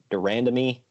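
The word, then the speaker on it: de Randamie: Durandamy?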